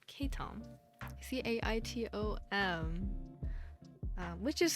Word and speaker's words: caitom: under the same name k Tom c-a-i-t-o-m which is how you pronounce it um I've realized after having that username for a bit some people might pronounce it as like cattle and while that is